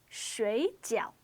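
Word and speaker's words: 水饺: this word it's pronounced Sri gel the only difference between this word and the first word is the tone on each syllable the pinyin is otherwise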